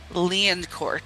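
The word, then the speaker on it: Lioncourt: main character, Lestat de Liancourt. Spelled like Lion Court, but that's not how you say it because it's French and very fancy.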